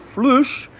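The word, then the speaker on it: فلوس: But flush is how you say money in Darija, the main language here in Morocco.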